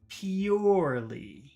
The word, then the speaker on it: purely: very different for me let's look at number one how do you say number one purely e p PE pure e e purely purely let's compare that to number two poorly so